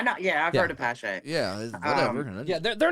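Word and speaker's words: Paasche: Yeah, like, well, if you like go to Amazon and you like top rated stuff, of course Iwata's there, but Posh, it's also sold at a lot of the hobby stores.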